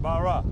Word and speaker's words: Barras: Captain Barras, and like they say in Lafayette, Barra. That's right. That's the way you do it? Yeah. A lot of people pronounce it Barras because of the way it's spelled, but it's actually French.